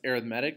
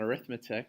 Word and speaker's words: arithmetic: what an arithmetic sequences this is pronounced arithmetic not arithmetic because it is an adjective describing a sequence so we can look